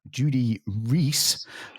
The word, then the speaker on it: Judy Rees: And this week in the studio, we have Judy Rees, who I just found out that's how you say her name after 10 years.